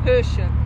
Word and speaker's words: Hősök: How do you say that in Hungarian? The Hungarian Hush. Heroes. Hősök. Hősök. Nem húsok. Hús is meat. Not meat.